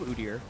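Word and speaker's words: Udyr: of speak to the uder pick though and I'm not going to change my pronunciation of uder as many people that will tweet me elsewise I think it's the way you should say it uh but it's a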